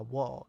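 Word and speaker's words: を: Or wa, wo, as they write here, and n. But it's pronounced o.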